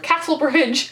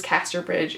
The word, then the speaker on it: Casterbridge: I constantly mispronounce this as The Mayor of Castlebridge. I do realize that is a slip up if I do it. I do understand that it is Casterbridge.